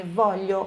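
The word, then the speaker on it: voglio: eu GL então é velho como se fosse o som do nosso LH em português aí eu olho não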